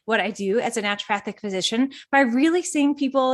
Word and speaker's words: naturopathic: before we dive into that you are a naturopathic yes physician is that how you pronounce it yes you nailed it that's right